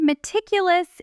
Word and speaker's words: meticulous: The word meticulous is stressed on the third syllable. Me ticulous.